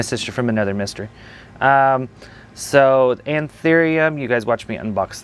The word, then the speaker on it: Anthurium: Anthurium 420.